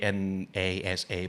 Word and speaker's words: NASA: คำนี้อ่านอย่างไร ทุกอย่างเลย Like we don’t say 'N-A-S-A' but 'NASA'.